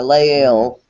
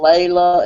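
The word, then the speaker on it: Lael: Leel, just like it's spelled L A E L. Le E L. Yeah, but I've been called Leila and Leela and.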